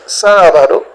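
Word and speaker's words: sábado: a puis on a sabado qui est samedi dit sabado parce que g accent sur A donc faut per sur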